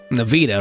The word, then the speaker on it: Navita: Navita rhymes with Nahida.